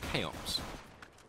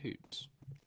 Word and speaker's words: Cahoops: How do you say the name? Chaos. Hoops. No, it's just Cahoops.